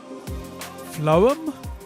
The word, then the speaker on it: Phloem: It's PHLOEM, which to me is phlegm, but I know that has a GH in it. Phloem? Maybe it's phloem. I think it's probably not pronounced phlegm. We'll go with phloem, like poem, with an L and an H in it.